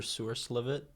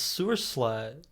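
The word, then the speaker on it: Sewerslvt: I called her Sewer Slivet for a very Slivet. long time until one day I just read it and I was like, "Oh, it's Sewer Slut."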